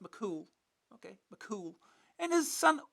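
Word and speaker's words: mac Cumhaill: It's something out of a something about a legendary Irish hero called Fion Makumo pronounced Makul.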